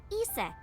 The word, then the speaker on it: Isis: But in ancient Egyptian, it's pronounced closer to Iset or Aset.